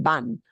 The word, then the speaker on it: van: It's pronounced ban, right? These letter V, remember, are going to sound like a B, but a softer B.